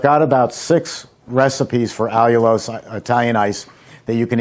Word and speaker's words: allulose: with this i found this product it's called allulose it's spelled a-l-l-u-l-o-s-e and allulose works very well it's still not